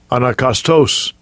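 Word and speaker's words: ἀναγκαστῶς: It says Strong's, actually here I just get the pronunciation. Strong's G 317, anakastos.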